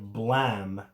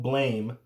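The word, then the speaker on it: Blame!: team was there and they called it blam that's why i was like there was something weird in how they pronounce it it's called blame um and it was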